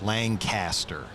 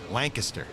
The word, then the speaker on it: Lancaster: yeah listen come here do not call Us Lancaster we are not Lancaster Lancaster I can't even say it wrong it hurts me it's Lancaster Lancaster here we go we're